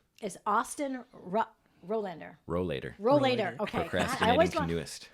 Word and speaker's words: Rowlader: YouTube, but it's Austin Rowlader. Rowlader. Okay. Procrastinating want canoeist. Rowlader. Austin Rowlader. I want to put an N in there. Yeah, so do most people do. Yeah, it's but the way it's spelled.